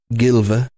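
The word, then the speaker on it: Gylve: so Fenris here are our man Gil OVA I believe is how you pronounce his first name gy lve was asked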